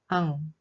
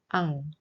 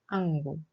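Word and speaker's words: 앙: Then we pronounce this word ang. Be careful not to pronounce the ending loudly. It's just ang, not angul.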